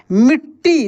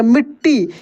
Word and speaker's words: मिट्टी: बात नहीं है दोस्तों यद एक ही अक्षर एक आधा हो और एक पूरा हो तो उसके उच्चारण में जो लगता है कैसे मिट्टी देखिए ऐसे पढ़ेंगे मिट्टी इसको ऐसे भी लिखा